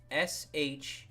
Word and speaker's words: Chiberus: So I had to compromise, and I'll do like, okay, something else that I could pronounce as Sheeb. CHIB, because that sounds like Chibi.